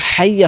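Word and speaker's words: حَيَّ: Loss, হাইয়া হাইয়া আলাস, অনেকে বলে আইয়া আলাস সলা, আইয়া আলাস সলা, এভাবে টান দেয় আইয়া আলাস সলা, আইয়া আলাস সলা, মানে আইয়া বলে। এখানে কিন্তু হাইয়া হবে, হায়া জবর হাই সিকোন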